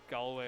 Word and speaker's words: Galway: Sorry, it's Galway. Yeah. So yeah, Kretin, I'm pretty sure, if I'm not mistaken, has won every Galway event they attended.